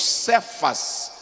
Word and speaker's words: Cefas: a chamá-lo de Pedro ou querfas que nós pronunciamos cefas e que significa Rocha